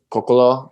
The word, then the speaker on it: Coccolo: Martin Coccolo, I believe, is how you pronounce his name.